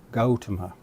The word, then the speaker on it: Gautama: The correct pronunciation is Gautama, or in Sanskrit, Gautama.